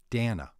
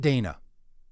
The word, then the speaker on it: Dana: Dana, not Dana.